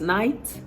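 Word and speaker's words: knight: same way because the K in this night is silent so it's night night what about side and side side sides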